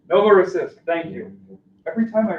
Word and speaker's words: Novorossiysk: Despite strong showings in recapturing Novorossiysk, I can't pronounce this one. Anyway, what is it? Novorossiysk. Novorossiysk, thank you.